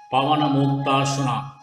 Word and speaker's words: Pavanamuktasana: Pavanamuktasana, wing relieving pose, pronounced as Pavanamuktasana, is excellent for releasing abdominal gas, as its name suggests.